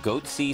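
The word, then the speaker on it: Goatse: getting the goatsy picture they're called goatsy security is that my pronouncing that correctly yeah that's right we're analyzing coverage from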